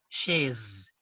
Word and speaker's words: chaises: But please note, even though we have an S at the end, we don't pronounce the S at the end because most of the French endings are mute. They are not pronounced.